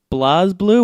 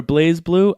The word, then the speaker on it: BlazBlue: a little bit more there's no e at the end of blaze so it kind of seems like Blas and I'll talk about